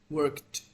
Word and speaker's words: worked: that worked this one you have to pronounce like a t worked worked yeah like this